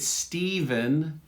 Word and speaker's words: Stephen: Because we have autograph with an F, and we just looked at Stephen, PH, with a V sound.